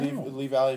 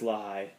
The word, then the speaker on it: Lehigh: It's spelled Lee, but it's Lehigh.